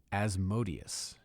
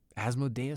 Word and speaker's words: Asmodeus: in the monster manual I used to pronounce his name differently as well uh as modius but since it was revealed to me that I'd been pronouncing demo Gorgan wrong all those years years I figured I must be doing the same with asmodus and asmodus sounds better doesn't it more badass